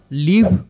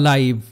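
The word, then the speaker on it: live: বো কারণ এখানে এটার অর্থ ধনুক নেক্সট ওয়ার্ড লিভ বা লাইভ এল আই ভি ই এটার উচ্চারণ যখন লিভ তখন এটার অর্থ বসবাস করা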